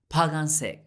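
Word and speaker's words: 빨간색: say red in korean red reminds us of the red gum which is in our palm palm gum pagan seik how do you say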